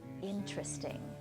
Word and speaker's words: interesting: about something that's interesting, they often will just get rid of a whole syllable. It's very rare to hear people say, "That's interesting." It's much more common that that tear is just taken out and has disappeared.